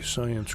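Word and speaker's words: Psyence: the science group the science group is spelled p s y e n c e it's launching its functional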